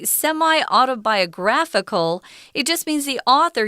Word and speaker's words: semi-autobiographical: We're describing it as a semi-autobiographical. So the emphasis or the 重音 is on gra.